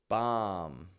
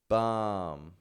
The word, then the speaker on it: bomb: bomb bomb num num so each of these words is spelled with a B on the ending but none of them have that b pronounced so check this out even if we add more letters onto those words the B remains silent so instead of saying